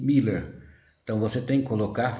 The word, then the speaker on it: Müller: Mas em alemão ela tem som de I, Miller.